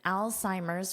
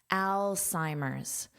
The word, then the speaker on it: Alzheimer's: Our headline, amazing reduction in Alzheimer's risk, verified by blood markers, study says. First, let's talk about the pronunciation of this word Alzheimer's. So, notice this beginning is pronounced like the name Al.